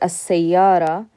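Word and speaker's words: السيارة: Okay, and in pronunciation, so when we say this word as-sayyara, this alif is a Hamza al-wasl, we skip it. We can't pronounce the lam here because sin is a sun letter.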